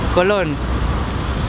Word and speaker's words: Colón: mucha diferencia la tilde hace la diferencia totalmente Colón este tío de aquí atrás colon que no lleva tilde es en inglés colon colon pero del